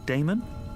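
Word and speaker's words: Daemon: a e m o n how do you pronounce that Damon if you prefer and this address I guess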